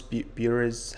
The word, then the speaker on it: Bures: is Alex Albarn Alex grew up in burrows bures how he pronounced this which is right near Colchester very